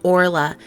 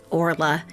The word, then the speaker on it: Orla: I was playing but it is pronounced Orla not oral life Orla and I will get